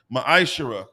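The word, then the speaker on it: מעשר: verses 8 through 10 means 10th in the Hebrew it's pronounced maishira ten percent of every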